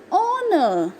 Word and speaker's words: honor: H is silent over here.